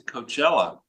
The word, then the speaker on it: Coachella: He's going out to Coachella, that's how you pronounce it, California, to do a rally.